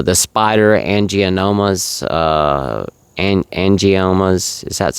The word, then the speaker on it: angiomas: Uh the spider angomas uh an angiomas is that's how how it's pronounced.